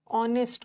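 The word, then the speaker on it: honest: ठीक हैस्ट नहीं होता ऑनेस्ट यहां भी एच साइलेंट है ओ से शुरू हो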